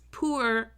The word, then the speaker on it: puer: In Latin, we pronounce every letter very clearly.